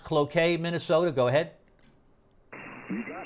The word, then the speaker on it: Cloquet: Thank you for, is it pronounced Cloquet, Minnesota? Go ahead. You got it, Cloquet. Yep, Cloquet, Minnesota.